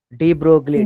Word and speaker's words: de Broglie: Sir, how to pronounce the name? De Broglie, de Broglie.